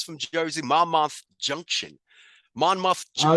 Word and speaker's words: Monmouth: jersey my mom junction monmouth oh it's fine it's not far from me serious oh it's not my am i saying it right mommy mama junction mama junction thank you yes so that's where she's